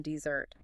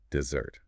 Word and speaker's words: dessert: So, remember the sweet treat comes at the end and the stress comes at the end of the word dessert.